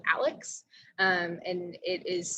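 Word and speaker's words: ALEKS: math very differently we use a program called alex um and it is spelled a-l-e-k-s if you're interested in looking it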